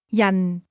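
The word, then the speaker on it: 人: Yan. Yan. This word is pronounced with a falling tone.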